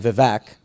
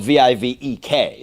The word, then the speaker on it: Vivek: had you on the show I was saying vivec and everybody says vivec because it's just I don't know anglicized or whatever I would also say that's very fair because it is spelled v-i-v-e-k so that is a pretty phonetic pronunciation but